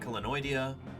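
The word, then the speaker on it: Chelonioidea: Kenoidia, that's how you say it.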